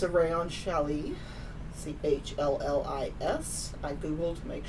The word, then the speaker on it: challis: or something super drapey like, let's see, rayon challis, tinsel twill, or silk noil.